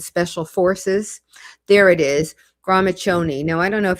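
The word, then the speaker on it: Gramiccioni: There it is, Gramachoni. Now, I don't know if he's pronouncing it correctly. That CCI should be a ch, but a lot of people pronounce it incorrectly as a Shoni or a Coney.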